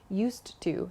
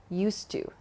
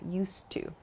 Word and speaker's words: used to: not used to but native speakers connect the d and the t sound at the end of used and to so it's not used to but used to used to there's just